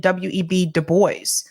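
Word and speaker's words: Du Bois: his name that way I think he pronounced it web Debo I think that's how he referred to himself but it is a French name because he believed that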